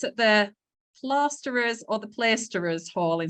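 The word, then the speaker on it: Plaisterers' Hall: And it's at the Plasterers or the Plaisterers Hall in central London. There was a big debate going on in the WorkBuzz office around the pronunciation of that today. Neil, do you know? Plaisterers.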